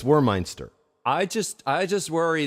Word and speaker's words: Wormeinster: know Larry as thuck warminster or warminster war my war Meister or meinster well phonetically for noah clay it's war meinster I just I just